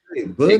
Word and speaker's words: Byrne: The Y you can pronounce it. Burn.